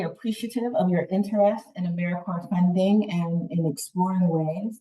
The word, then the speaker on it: AmeriCorps: AmeriCorps is alive and well, just spelled with a silent p. So think of apple core or core of the earth.